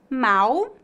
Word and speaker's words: mau: com l no Brasil não há diferença na pronúncia dessas duas palavras mal e mal por